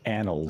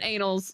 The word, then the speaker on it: annals: I think Frostbite's good when it's pronounced annals. Oh gosh, Sean. That's what I said, annals. Annals. You said the annals of the earth, not the... I definitely heard anals.